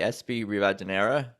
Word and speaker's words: Espi Rivadeneira: Here's Espi Rivadeneira. All right, so it's good to see you today, Espi Rivadeneira.